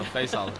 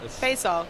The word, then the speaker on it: Faisal: My name is hard to pronounce, but it's Fay like say and Sal like Sal, so Faisal. Faisal.